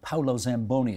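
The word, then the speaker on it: Paolo Zamboni: last couple of weeks whereby uh I think Paulo Zamboni is how he pronounces his name he's got you know he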